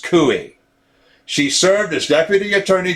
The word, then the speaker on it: Coie: establishment law firm like perkins coie pronounced cui she served as deputy